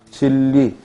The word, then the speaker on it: 진리: 예를 든다면 뭐야? 신라, 진리 이런 말들. 그래서 이음절의 단어의 경우에는 100% 니은과 리을이 만나면 뭐가 일어난다? 유음화가. 그래서 리을로 발음된다.